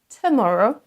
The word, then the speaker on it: tomorrow: Ne dites pas today, tomorrow et tonight, mais prononcez le premier son comme un son schwa, donc le petit E à l'envers. C'est un son E très léger. Today, tomorrow, tonight.